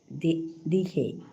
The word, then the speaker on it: dihe: J to H উচ্চারণ হবো আর ইও টু জো উচ্চারণ হবো দিহে আচ্ছা J to H দিহে sound R J to Y to J উচ্চারণ হবো ইন্টারেস্টিং বলুন দিহে not DJ, dihe, lavarded.